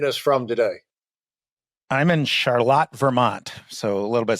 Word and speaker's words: Charlotte: Burlington and Northern Vermont a little bit different pronunciation than the North Carolina charlott yeah I'm not I think they're named after the same King George third's wife Queen Charlotte or Charlotte but for some reason we maintain the German pronunciation and so uh Adam